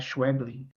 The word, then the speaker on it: Schweblin: Tem a Mariana, eu toda vez me confundo a pronúncia dela, é Schweblin, Mariana Schweblin.